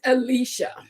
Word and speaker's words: Alecia: So you pronounce it Alecia.